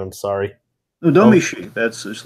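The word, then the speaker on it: Domee Shi: What's up there with Domi Shi, or I don't know how to pronounce her name. I'm sorry. No, Domi Shi.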